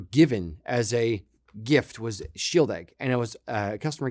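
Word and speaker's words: Shieldaig: bot for that price that's freaking ridiculous so Shield egg was it 10 or 12 I forget which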